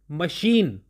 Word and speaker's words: machine: अब ये दोनों वर्ड्स मैंने आपके सामने रखे, अगर आप ध्यान से देखो तो दोनों की स्पेलिंग में CH आ रहा है, लेकिन मशीन के केस में ये CH श साउंड को प्रोड्यूस कर रहा है, और मैकेनिज्म के केस में यही CH क साउंड को प्रोड्यूस कर रहा है।